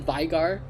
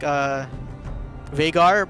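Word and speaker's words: Veigar: I kept saying Vagar. Is it Vigar? I mean, I normally pronounce it like Vagar, but apparently like internationally they pronounce it as Vigar or something.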